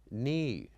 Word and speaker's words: knee: right light night and also letters that are silenced like the letter K when it followed by n for example knob knee knife knock and also we